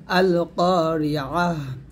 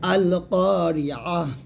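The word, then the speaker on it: القارعة: আছে, এখানে থামলে হবে আল কারিআহ, এতে তারটা হাসে কিনা হয়ে যাবে আল কারিআহ। এখানে আমরা অনেকে আইনটাকে ইয়া উচ্চারণ করি, এটা করা যাবে না, ভুলটা সুন্দর করে বলেন আল কারিআহ।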